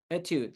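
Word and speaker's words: étude: understand what you're saying etud is it's e t u d e itude like it's a French never even heard that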